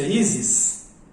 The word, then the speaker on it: Isis: Então essa pronúncia, Isis.